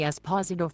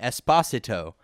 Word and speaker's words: Esposito: Okay, I can send a message to Anthony Esposito for you. What would you like it to say? Okay, so Siri mispronounced my brother's name and said Anthony Esposito, where his name is actually pronounced Anthony Esposito.